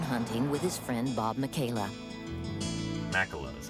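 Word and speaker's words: Makela: to go Bone hunting with his friend Bob Michaela Mao that's how you say it yeah as usual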